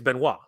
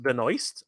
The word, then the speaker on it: Benoist: that's what uh now the way we would say it is Benoit right because it's French right and we are a french-speaking country so a lot of people uh have been have been ribbing me on this idea that uh that it's incorrect and I agree okay I agree I did not know that it was pronounced Benoist I had no idea